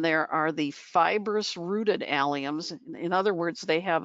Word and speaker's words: allium: strong garlic onion smell to it and it's pronounced allium and its seed heads provide texture in the